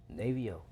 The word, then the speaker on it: Navo: Navio, DJ Navio? Navio, everything Okay, Navio, everything artist Navio. name Navio, producer name Navio, But it's spelled Navo. NA.V.O.